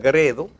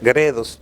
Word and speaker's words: Gredos: y de la editorial Gredo. Como ya sé, Gredos, deben pronunciar la S, porque después Miriam me dice, no te luce comerte tantas S.